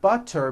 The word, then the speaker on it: butter: So if a letter T falls between 2 vowel sounds, which are voiced, so if it falls in the middle of vowels, then the T is pronounced as a D and the whole word is voiced.